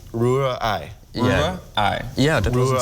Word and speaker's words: Rührei: So you have to separate it, Rühr, and then Ei. Rührei. Yeah. Rührei. Yeah, that wasn't so Rührei.